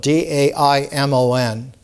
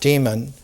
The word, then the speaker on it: daimon: In ancient Greek, the word is spelled D-A-I-M-O-N, daimon, not demon, but is the inner spirit who is a tutor.